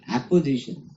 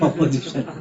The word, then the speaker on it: apposition: Opposition, apposition. It is opposite to in fact opposition. Opposition means they will be against each other. Opposition means sitting together. It's not opposition, not pronouncing wrongly.